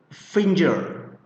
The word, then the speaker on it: finger: Now, many of my students somehow pronounced this word finger. Finger. I don't know why, but many of them pronounced this finger. That is very worrying for me because, well, it's wrong.